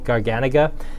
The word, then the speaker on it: garganega: life as garganega and i'm very slowly trying to retrain myself to say garganega and i'm really working at it because i i love the grapes so much i do want to say it right like i wouldn't want to call riesling wrestling or riceling although in a couple parts of the world that's actually phonetically correct but generally we call it riesling but yes it is actually garganega and it is the